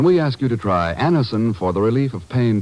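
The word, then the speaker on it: Anacin: When we ask you to try Anison for the relief of pain due to a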